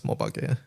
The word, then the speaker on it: Mobage: So yeah, as far as I know, it's Mobage is the pronunciation.